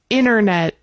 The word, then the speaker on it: Internet: Okay, this is one where we pronounce the T when it's slow or not when it's fast. Internet.